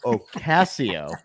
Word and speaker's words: Ocasio: Let me say Marche Rocket, Joe Ocasio. Got to say it right, like the wristwatch. He told me the wristwatch.